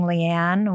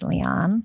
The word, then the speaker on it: Liane: seven years moriori no I was saying Leanne with a New Jersey accent and it's Leon oh Leon okay and